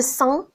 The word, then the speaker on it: sang: Le sang, on ne prononce pas le G.